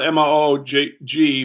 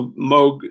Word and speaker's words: Moog: It's spelled M-O-O-G, but it's pronounced Moog, I think.